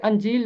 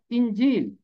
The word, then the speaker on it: انجیل: بات، متی کی انجیل، یہ انجیل نہیں ہے، اس کا تلفظ ہے انجیل، الف کے نیچے زیر ہے۔ انجیل کا مطلب ہے